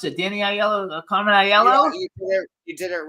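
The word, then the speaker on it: Aiello: and casting director Carmen aello how do I pronounce it Danny aello Carmen aello you did it right Mr star there you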